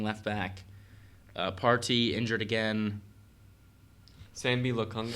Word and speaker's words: Sambi Lokonga: Sambi Lokonga, I think that's how you pronounce it. Yes. Sambi Lokonga.